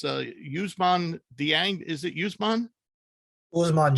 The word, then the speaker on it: Dieng: It's Ousmane Dieng. Is it Ousmane? Ousmane Dieng. Dieng. Oh, right. I forgot the D's pronounced it right.